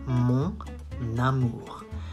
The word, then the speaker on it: mon amour: You do the liaison. Mon amour. Why? Because it ends with an N and the next word starts with an A. So you link both.